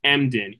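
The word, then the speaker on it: Emdin: one more time please yes absolutely Dr Chris mden e m d i n do you know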